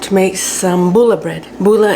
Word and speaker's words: Pulla: Pulla is spelled P-U-L-L-A. It is a Finnish word, and it is a